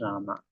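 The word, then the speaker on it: राम: So it is Ram or Rama. In Hindi it's called Ram. But when Sanskrit mantra you utter, it is Rama.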